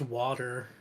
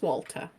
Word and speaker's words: Walter: Unless it's pronounced water. I see. It is not. Water. It is Walter.